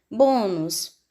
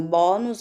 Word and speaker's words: bônus: uns deve receber acento bônus paroxítona terminada em Luz deve receber acento como um som é fechado eu não digo bónus eu digo o bônus eu vou colocar um